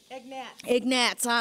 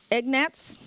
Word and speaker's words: Egnatz: Egnatz.